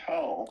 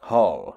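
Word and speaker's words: Hoal: do i say is the h-o-a-l was his actual last name i assume it's pronounced hull hull yeah thomas the boy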